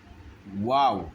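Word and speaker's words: واو: আরবি মিমের পরে ওয়াও, আর ওয়াওরা উচ্চারণ হবে, মুখ প্রথম গোলাকার হবে, এরপরে একটু চড়া হবে। ওয়াও ওয়াও ওয়াও ওয়াও, এরপর আবার গোলাকার হয়ে যাবে। এটি হলো ওয়াও।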